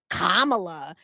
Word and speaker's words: Kamala: they say they say you're supposed to say Kamala her name's cares no I I just I